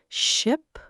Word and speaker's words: ship: Keep your mouth tighter and shorter for ship and stretch it for sheep. Try it with me. Ship.